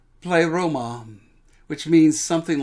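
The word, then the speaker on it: πλήρωμα: what's going on here the greek word is pronounced play roma which means something like perfect completion on the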